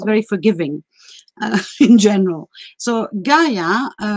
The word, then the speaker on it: Gaia: forgiving in general so gaia in greek is called yeah and you can hear in the world yeah yeah yeah the same um first syllable as geography or geology so basically her name